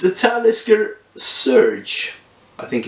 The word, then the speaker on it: Talisker: to get here in Sweden uh it's a talisker surge I think it's pronounced and it's uh 100 bourbon maturation experimentation